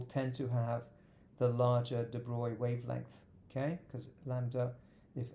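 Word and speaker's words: de Broglie: following has the largest de Bry wavelength de broy means this is how you pronounce it French name yeah so Lambda wavelength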